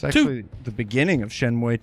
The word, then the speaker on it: Shenmue: Is that how that's pronounced? Shenmue? Yeah. Yeah, Shenmue.